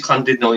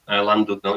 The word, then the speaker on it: Llandudno: can we go to Llandudno, like, or Llandudno? I know it is Llandudno. It's spelled saying by the Welsh, isn't it? And we say Llandudno. It's just my accent, but I always wanted